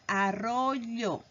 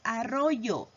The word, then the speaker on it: arroyo: En este caso, lo más correcto es pronunciar arroyo, pero muchas de las veces por hablar rápido pronunciamos arroyo.